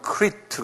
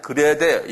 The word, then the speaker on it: Crete: 영어로는 크리트 그러는데요. 근데 영어가 잘못됐어요. 크리트란 말이 아니에요. 그레데. 여기 나온 대로 그냥 그레데.